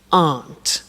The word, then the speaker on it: aren't: they aren't cheap so the difficult here is the pronunciation of are not which is aun okay a good so